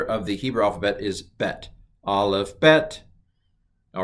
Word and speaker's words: bet: it it's pronounced ba when the bet does not have a dot in it it's pronounced the so the second letter of the hebrew alphabet is bet aleph bet all right